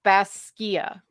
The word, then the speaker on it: Basgiath: So the college is technically pronounced Bas and then Skiath. So it's Baskia. Basskeeah. So Baskia.